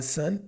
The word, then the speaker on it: son: E a palavra son é apenas para boys, então apenas para filhos meninos. Sun. E uma curiosidade, a palavra sun tem a mesma pronúncia da palavra sun, que seria sol.